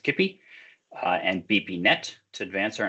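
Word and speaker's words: Kipoi: He obtained his PhD from the Technical University in Munich, where he developed Kippy, even though it's spelled Kippoi, I think it's pronounced Kippy, and BPNet to advance our understanding of DNA sequences and transcription factor binding.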